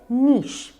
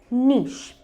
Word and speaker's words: niche: अब जो वर्ड मैं आपको बताने जा रही हूँ वो है नीश। अब स्पेलिंग है NICHE, बट प्रोनाउंसिएशन है नीश, नीश।